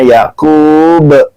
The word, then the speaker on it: Yakub: Ada qalqalah kubro, dibacanya Yakub. Abraham aulad Ibrahim memperanakan Ishaq.